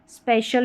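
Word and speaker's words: special: जैसे यहां पर सी आई एल है। इसको शल पढ़ेंगे। जैसे स्पेशल में हो गया। और यहां पर देखें ऊपर वाली स्पेलिंग में टी आई एल ये वाला पैटर्न लिख लें। एल भी लिख लें और शल लिख लें। ये शाल नहीं शल।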